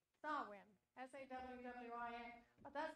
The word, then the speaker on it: Samhain: dark half of the year, and that's called Samhain. Samhain. S-A-W-W-I-N. But that's not the way it's spelled. If you said it the way it was spelled, you would say Samhain or something to that effect. S-A-M-H-A-I-N.